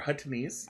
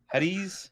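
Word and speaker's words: Huttese: They are Huttonese. I missed a syllable in there. You missed a lot of syllables. Hutties? No, Huttonese. Yeah, now you're doing it again.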